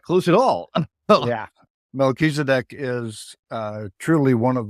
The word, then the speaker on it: Melchizedek: oh I was not close at all yeah Melchizedek is uh truly one of the Lords of